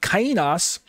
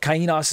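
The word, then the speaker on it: καινός: By comparison, the Greek word kainos, some people say kainos or something to that effect, kainos, but kainos is how I pronounce it.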